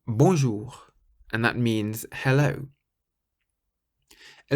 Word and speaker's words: bonjour: French words is that you always stress the very last syllable of the word in French. So you say bonjour, bonjour, rather than bonjour.